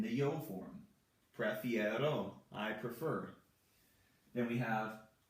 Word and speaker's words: prefiero: So we have prefiero, prefiero. The E from the infinitive form becomes an IE in the yo form. Prefiero, I prefer.